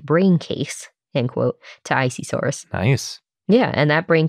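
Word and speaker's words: Isisaurus: Planet they go with icesaurus so that's what we're doing yep I kind of like that they say I at the beginning of it since it's isi yes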